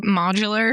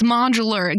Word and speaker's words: modular: to look up the correct way to say modular oh yes cuz we didn't yeah we couldn't